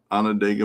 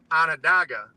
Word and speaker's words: Onondaga: It's named after an Indian tribe, and the Indian tribe went by Onondaga. But I don't know, our whole life and everyone that comes from there calls it Onondaga. So Either one is appropriate.